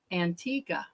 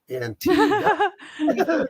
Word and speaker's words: Antigua: where Antiga is and everybody pronounces it wrong so there's a little phonetic spelling on how to pronounce it rine Antiga ah Antiga Antiga right exactly right right